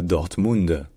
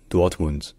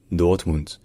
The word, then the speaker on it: Dortmund: Et enfin le D à la fin, comme toujours en allemand, le D final se dit T. Donc ce n'est pas Dortmund, c'est Dortmund. Dortmund.